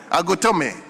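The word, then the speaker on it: Agotime: Agotome.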